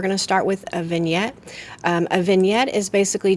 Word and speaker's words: vignette: It's spelled vignetti, but we say it vignette.